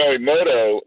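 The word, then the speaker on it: Imoto: passed it a million times uh is it a moto is that how it pronounced you know emoto is uh our newest restaurant and we're down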